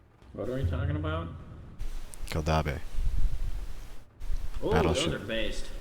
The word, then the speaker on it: Keldabe: Keldabe. That's how you pronounce it.